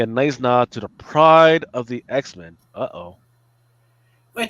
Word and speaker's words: Pryde: It's going to be a nice nod to the pride of the X-Men. Uh-oh. Wait, that crappy one-off episode from '89? I don't know, but Yeah. they got pride. Pride is spelled Pryde, as in Yeah, Katie Pride.